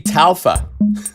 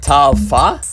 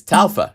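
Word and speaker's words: TAL-Pha: tall called fa it's I at first I was saying the name wrong it's supposed to be talfa it's not tala it's talfa because it's based on an alpha Juno synthesizer right so and actually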